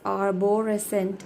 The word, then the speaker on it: arborescent: Though it is arborescent, it is wrong. My pronunciation, if I will read arborescent, but it is arbor. Arborescent, arborescent, and R is silent, arborescent in British, which means resembling a tree in growth or appearance.